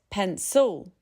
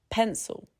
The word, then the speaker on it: pencil: pencil Not pencil, but pencil. The I disappears into a schwa.